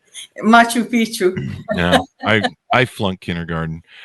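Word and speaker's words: Machu Picchu: sights such at the ruins of Macho Pico and Peru the Mayans in Mexico I mispronounced that didn't I that's why you're laughing Machu Pichu no I I flunk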